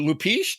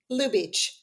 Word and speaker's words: Lubeach: Is it Lupich? Do I play? Is that pronounced right? Lou Beach.